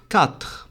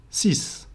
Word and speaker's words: six: a bit tricky because when pronounced alone it goes sis the X at the end is pronounced s however when there's a word after it for example Six toys it will become c meaning that the X at the end becomes Silent not only that it